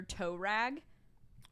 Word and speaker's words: Tuareg: It looks like you would pronounce it Tuareg, but it's pronounced Tuareg. Or Tuareg. I forget exactly how you say it. Your toe rag? Yeah, when Volkswagen came out with that and named it that, everyone was like, that's the dumbest fucking name I could ever think of. And then they had to tell everybody how to pronounce it. And they were like, it's pronounced toe rag.